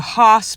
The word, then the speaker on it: horse: They do the hoss pulling. It's horse pulling, but up here they call it hosses. So they have the hoss pulling. That's how you say it up here in New Hampshire.